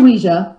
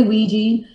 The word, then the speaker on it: Ouija: of luigi now you say ouija am i mispronouncing or is there some kind of terminology there i should know about it's actually weija that's a that's the actual correct way of saying it people say ouija and once in a while i'll say that